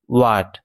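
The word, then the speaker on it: what: এটা উচ্চারণ হবে হোয়াট। ওয়াট।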